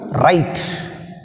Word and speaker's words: right: Next word, right. In right which is silent? GH is silent.